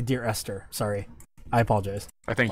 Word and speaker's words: Dear Esther: During the break, it's been pointed out, I was saying Dear Escher. It's actually Dear Esther.